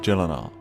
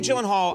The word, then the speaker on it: Gyllenhaal: It is a Swedish name. So shouldn't it be like Gyllenhaal? Oh my god. I have to say, Gyllenhaal! the only two places that is pronounced correctly, my last name like you did just now, is in Sweden and in IKEA. IKEA.